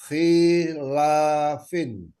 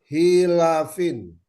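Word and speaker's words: خِلَافٍ: Aslinya holafan. Karena diawali huruf jar, menjadi khilafin. Ulangi bacanya aslinya. Oh, ya. Aslinya khilafan, karena ada huruf jar menjadi hilafin. Ya. Jadi bukan ho ya, hi ya.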